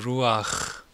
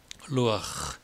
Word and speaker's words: 루아흐: 구약 성서는 그것을 루아흐, 흐 발음을요. 죄송하지만 목에서 이렇게 청소하듯이 강하게 하셔야 됩니다. 그 독일 발음도 흐 발음이 강하지만 히브리 발음은 강합니다. 우리 하나님의 이름을 에흐에 아셔 에흐에 할 때처럼 루아흐 진짜 바람이 불어나오듯이. 근데 여러분 오늘 제 강의의